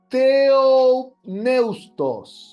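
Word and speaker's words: θεόπνευστος: Ahí anoten en su hojita la palabra teustos. Se escribe así.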